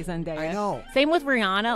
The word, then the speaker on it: Rihanna: say zanda same with Rihanna I say Rihanna but I think it's Rihanna technically but I'm like people are